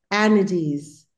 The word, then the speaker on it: energies: नहीं, हमें थोड़ा आ की आवाज आ रही है, ई की आनी है। आपके अकॉर्डिंग इसकी स्पेलिंग हो जाएगी ENARGIES, जबकि स्पेलिंग है ENERGIES। एनर्जीज, एनर्जीज।